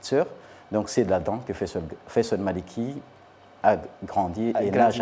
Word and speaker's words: Faisal: Donc c'est là-dedans que Faisal Maliki a grandi et nage encore. Alors, est-ce qu'on prononce le « i » de Faisali ou